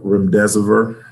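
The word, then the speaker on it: remdesivir: still get vaccinated and i may not have pronounced that last medication r-e-m-d-e-s-i-v-i-r redeserver you did great so a couple different ways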